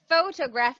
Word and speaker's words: photograph: Photograph because Phot- the stress is in the first syllable.